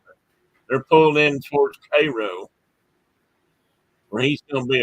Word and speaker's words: Cairo: And that is how you say that, by the way. It's spelled Cairo, but it ain't. Is. But it ain't. It ain't Cairo. Cairo. It's Cairo. Cairo, yeah.